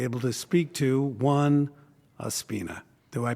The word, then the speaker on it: Ospina: proud to be able to speak to one Aspina. Do I pronounce that properly? Very close. My name is uh Opina. That is my uh full full name, but uh it is Opina as I go by.